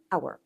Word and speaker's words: hour: بكل بساطه انا عندي هنا الاتش لا تنطق، سايلنت. هي ايه؟ سايلنت. فانا كاني شلتها ودخلت على الاو.